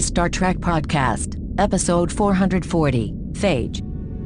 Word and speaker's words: Phage: See, there's fage, which is the way we pronounce this episode, and then there's fier, which is the yogurt.